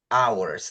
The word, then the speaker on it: hour: So you were talking about hours and you that they understand that the word hour it is spelled H O U R but it's pronounced hour.